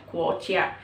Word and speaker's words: 国家: Jadi G itu dibacanya K ya, guoqia.